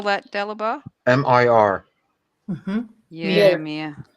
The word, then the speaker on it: mir: It's mir. How do you spell that, Dalibor? M-I-R.